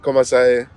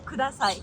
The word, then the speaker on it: kudasai: Komasai, please. Sorry, Or am I please. pronouncing that wrong? What's Like if I wanted to say water, please, I would say Mizu komasai. Mizu kudasai. Kudasai. Kudasai.